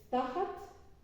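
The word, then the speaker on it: תחת: Y la última del vocabulario es tajat, tajat porque tiene acento en la primera sílaba, con una taf y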